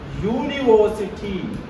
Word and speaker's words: university: next one University no you need to observe the first sound I said not first word first letter what is the sound here U is it there in the list of the wow sounds in English not there then a university a university so like this